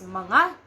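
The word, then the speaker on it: mga: you could just add the word manga it's pronounced as it's manga okay let's have some sentences foreign she is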